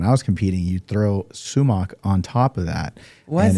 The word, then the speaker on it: sumac: You throw sumac on top of that. Was and in it? Farsi, we call it sumac, but it's sumac is in the way you pronounce it in English.